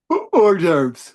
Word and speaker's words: hors d'oeuvres: Um, uh, um, I don't know why I cannot pronounce this word. Oh, diverse? Uh, uh, hors d'oeuvres.